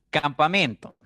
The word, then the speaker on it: campamento: Por ejemplo, campamento. En la palabra campamento vemos 4 sílabas. Campamento. Pero el acento cae en la sílaba que está marcada con rojo. Men. Es la que suena más fuerte.